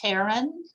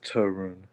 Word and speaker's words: Tarun: And is your name pronounced Taryn? It's pronounced Tarun.